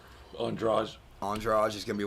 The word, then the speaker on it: Andrade: Andrade.